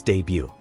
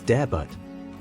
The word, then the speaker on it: debut: let's try this one it is pronounced as debut usually mispronounced as debut debut is a French origin meaning a person's first appearance or performance in a particular role the tea is silent an example her debut